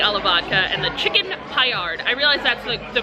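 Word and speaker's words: Paillard: And I got the rigatoni alla vodka and the chicken Payard. I realize that's the correct pronunciation on how to pronounce that.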